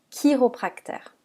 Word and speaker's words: chiropracteur: pas architect mais architecte certains mots d'origine grecque par contre se prononce qu'est comme le mot chiropracteur dans la phrase vous